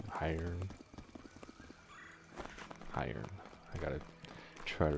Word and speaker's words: Hiern: So it's pronounced Hiern, not Hyron. Hiern.